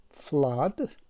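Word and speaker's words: flood: یا کلمه دیگر رو می بینیم که FL دوتا او و دی است در آخرش، این تلفظش می شود فلاد که همین دوتا او آواز ا را افاده کرده است که این علامت آواز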